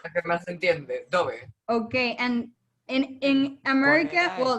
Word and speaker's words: Dove: Dove, like the bird.